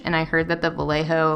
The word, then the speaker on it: Vallejo: it i don't have any vallejo um is how you say it vallejo um but i hear